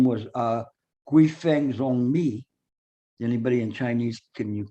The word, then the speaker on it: Guifeng Zongmi: His name was Guifeng Zongmi. Anybody in Chinese? Can you correct my Chinese? Guifeng Zongmi. Guifeng Zongmi. That's what I said. Thank you. Thank you. Say it again. Guifeng Zongmi. Guifeng Zongmi.